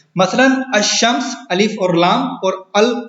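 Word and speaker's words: الشمس: लाम पढ़ा नहीं जाता, यानी लाम जो है वो साइलेंट होता है, जैसा कि अशम्स और अशम्स जो है वो इससे पहले अगर लाम आएगा तो वो साइलेंट होगा।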